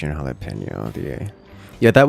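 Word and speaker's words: jalapeño: an English word and we don't pronounce it as an English word we pronounce it as a Spanish word because it is a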